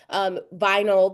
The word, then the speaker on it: vinyl: For example, in the word vinyl, the Y sounds like because it's the unstressed syllable and it wants to make it sound more natural. So vinyl, the Y is functioning in the schwa capacity because the first syllable is more stressed.